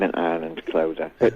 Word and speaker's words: Clodagh: was with Decca Records, they actually removed the GH. On my old records, it's Cloda, because they said people won't be able to pronounce that name over in England, so it became Clodagh.